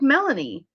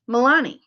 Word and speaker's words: Milani: Her name looked like Melanie, but it was Milani.